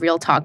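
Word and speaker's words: Reel Tok: to exist inside of Real Talk, which, by the way, people, it's actually so quirky. It's spelled REEL, like real, and then talk, TOK. But when I heard it, I first thought it was like real talk.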